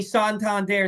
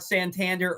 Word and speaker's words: Santander: kulum not Kum uh Anthony santand there not Santander or sand there I see Mullen spelled